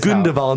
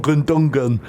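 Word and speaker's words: Gündoğan: So yeah, and his name is Gundogan, not Gundungan.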